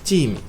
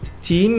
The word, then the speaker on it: team: Team e equipe é team. Tem que ser longo, som longo disso.